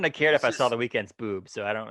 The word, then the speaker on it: The Weeknd: It's The Weeknd, and he spelled it the way that he spells it. It's not The Weekend, and it's spelled like WEEKEND, because The Weeknd doesn't have a second or third E.